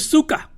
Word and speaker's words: suka: But you gotta say it like you mean it. Otherwise it comes out like sucker.